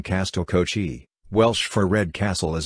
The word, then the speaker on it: Castell Coch: Costel welsh pronunciation Castille kochi welsh for red castle as a 19th century